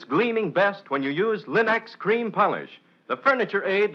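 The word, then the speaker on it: Linx: It's spelled L-I-N-X. Linex.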